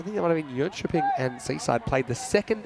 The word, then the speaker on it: Jönköping: Yeah, I'm trying to say it right in Swedish, which my Swedish isn't great. They're inventing vowels that I never even thought of.